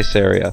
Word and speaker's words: Saria: I say Saria, so anyone who pronounces it different is clearly wrong.